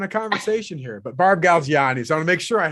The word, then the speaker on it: Galgiani: i didn't even say your last name barb gal gianni am i saying i make sure i say